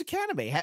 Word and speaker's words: Shikanime: And I just said, hey, Lauren, how do you pronounce our channel's name? And she's, oh, it's just Shikanime.